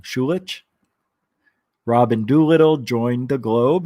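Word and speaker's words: Schulich: is a graduate of york's university's schoolish school of business and a native of thornhill ontario i know i said it wrong shulich robin doolittle joined the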